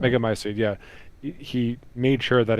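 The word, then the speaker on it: Megamycete: that the Mega Mycete, Mega Mycete, Mycete, you pronounce it right. Mega Mycete, yeah.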